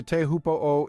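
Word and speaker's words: Teahupoʻo: next we're heading to teahupoo in Tahiti pronounced Choo by those in the know this spot is famous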